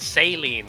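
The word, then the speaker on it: Céline: every- But they pronounce it saline, like the I.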